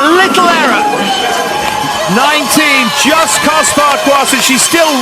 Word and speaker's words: Farquharson: I must apologise as well to her and her family, because I, force of habit, pronounce her surname in a sort of English public school way. Farquharson. And of course it's Farquharson.